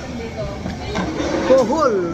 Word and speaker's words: kuhol: Kuhol rhymes with pol-pol.